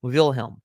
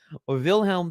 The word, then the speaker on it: Wilhelm: respect for Kaiser willhelm at least get the Wilhelm part willhelm vilhelm the first who at